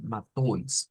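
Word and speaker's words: Matthäus: alemán lo vamos a escuchar algo así como mateus que parecería mucho diría yo al al al portugués le apunta un poquito cuando se escucha como una eus al final pero está la otra pronunciación que es más como matois con una o y una I matois vamos a quedarnos con esa pronunciación matois luego habíamos dicho que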